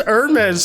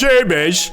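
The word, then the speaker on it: Hermès: Some people have debated whether the alliteration really works since the H in Hermes is silent. One smart Redditor pointed out that it might work if you pronounce it like a British person. "Hitler Wears Hermes."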